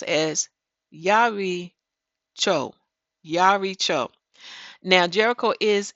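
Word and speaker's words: יְרִיחוֹ: I mean it is H 3405 and it's pronounced as Yari Cho Yar Cho now Jericho is a city of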